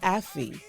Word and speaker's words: Ayfe: So it's pronounced Affy.